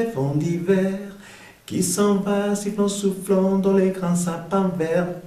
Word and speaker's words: soufflant: el sonido nasal en, soufflant, OU se pronuncia U, soufflant, dans, bastante sonido